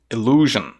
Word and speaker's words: illusion: um pouquinho diferente né illusion Observe que esse final Zion não é de fato Zion e sim j j Então esse é outro